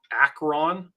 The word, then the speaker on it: Acron: but there's one called Acron like Acorn but it's spelled wrong okay um one person